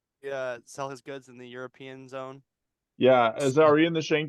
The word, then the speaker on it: Europe: Europe. Europe? All right. Like YURIP. Okay. Also Still the pronounced north.